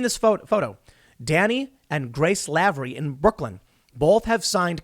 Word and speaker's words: Lavery: They wanted the Laverys, Lavery is how you pronounce their name, to join them in collective action against Substack.